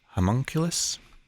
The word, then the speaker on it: homunculus: put away this junk a let's see it's pronounced homunculus it's one of those i think the the